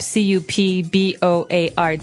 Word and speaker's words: cupboard: Okay, so you might want to say cupboard because it's cup, C-U-P-B-O-A-R-D. That's not right. The word is pronounced cupboard. Okay, so even though it may seem like you should pronounce cupboard, the correct pronunciation is cupboard.